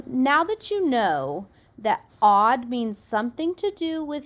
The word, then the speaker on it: aud: a UD D odd it is pronounced odd odd is a Latin